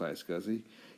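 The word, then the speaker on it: iSCSI: switch and that became a storage area network I scuzzy or the internet small computer systems interface also is pronounced I scuzzy uses the Ethernet network as this data transfer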